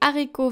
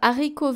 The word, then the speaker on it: haricots: Now the H of haricots verts is le H aspiré. Therefore, we do not pronounce the liaison between des and haricots verts. We don't say des haricots, we say des haricots.